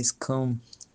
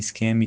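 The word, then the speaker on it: Skam: Isso é interessante porque a série, né, Scam, que é mais ou menos a pronúncia ali no série, já que é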